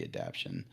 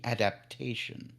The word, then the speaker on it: adaptation: be happier with the adaption um that I'm sorry the Discord group corrected me on my pronunciation the adaptation uh they were very